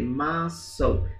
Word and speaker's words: muscle: Muscle. Olha a pronúncia aí. Muscle.